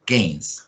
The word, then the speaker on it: Keynes: game o peines para los amigos pero se pronuncia game mal es muy importante yo ma yor times